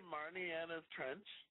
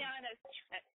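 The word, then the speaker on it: Marianas Trench: Did you just say Marniana's Trench? That's awesome. Mariana's Trench. Yeah. And Marniana's Trench.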